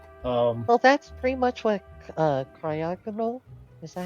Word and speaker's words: Cryogonal: Well, that's pretty much what cryogonal.